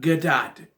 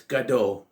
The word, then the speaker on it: Gadot: It's not Gadot. The T is silent. It's Gadot.